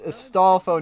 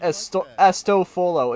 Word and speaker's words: Astolfo: it's Astolfo, not Astofolo. It's Astolfo. Put the L in front of the F and get rid of the second O.